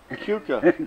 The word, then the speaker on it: Keuka: Keuka.